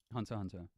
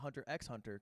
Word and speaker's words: Hunter x Hunter: anime what's your favorite Hunter Hunter classic and he's a true wee because he said Hunter Hunter and not Hunter x Hunter because the x is silent and he already knew